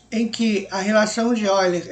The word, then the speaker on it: Euler: Escreve-se Euler em português, mas a pronúncia é Euler.